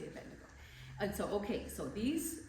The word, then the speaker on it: Abednego: Some people pronounce it differently. And Azariah he called Abednego. Some say Abedo, but I say Abednego.